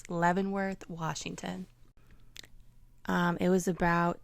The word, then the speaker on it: Leavenworth: I learned how to pronounce it. I kept saying it Levvensworth because my my boyfriend again was saying it in the British accent and I just got it stuck in my head, but it's Levvenworth, Washington.